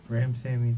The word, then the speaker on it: Ramsawmy: Ramsawmy, the W sound.